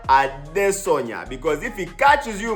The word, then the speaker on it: Adesanya: You have to say his name right because it's not Adesanya. No, the man is from Nigeria. So you have to say his name right. Israel Adesanya.